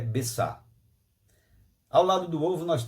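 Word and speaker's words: ביצה: significa é essa tristeza e esperança e a pronúncia do ovo é besta ao lado do ovo nós temos os pães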